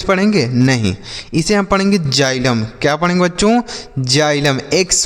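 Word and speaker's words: xylem: एक्साइलम ऐसे कुछ पढ़ेंगे? नहीं। इसे हम पढ़ेंगे जाइलम।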